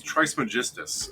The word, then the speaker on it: Trismegistus: Pronunciation. Who? Trismegistus. Oh, he's Trismegistus.